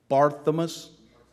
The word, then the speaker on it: Barthelmess: And I mispronounce this. People who pay me rent, I should remember their names and pronounce it correctly. Barthelmess. Thank you very much, Ken. Listen to Ken on the pronunciation, but we just had